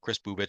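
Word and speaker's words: Kris Bubic: I think I'm pronouncing that. Chris Bubich Yep.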